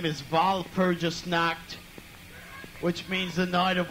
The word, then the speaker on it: Walpurgisnacht: By the way, if you can't pronounce our name is Walpurgisnacht, which means the night of all darkness.